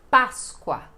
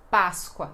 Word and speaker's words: Páscoa: na verdade bem diferente porque esse P é bem enfático porque é a sílaba mais forte e então "pa", bem então é esta pronúncia: Páscoa!